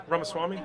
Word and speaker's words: Ramaswamy: thank you hello mr's uh Kirk and uh ramaswami right yeah yeah uh so WR pronunciation right there I appreciate that thank you